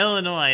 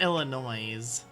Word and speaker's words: Illinois: it in mind oh yeah Illinois now that one I know that one I know not illinois's I love doing that just